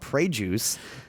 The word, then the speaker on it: Pregius: This one's called Prey Juice.